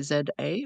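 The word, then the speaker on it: Z-A: did you just say z a or do you how do you pronounce this just z a what do you call it yeah we we would say Z here yeah of course you would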